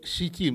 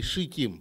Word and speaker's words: шитим: Следующее дерево ситим или шитим, правильно говорить.